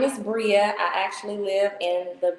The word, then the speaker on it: Breia: have Bria on here I am saying it right Bria right okay so we have Bria